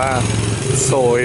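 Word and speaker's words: xôi: เข้า ไป ให้ เห็น เขียน ว่า โซย นะ ฮะ XI อ่าน ว่า โซย นะ ครับ เป็น ข้าว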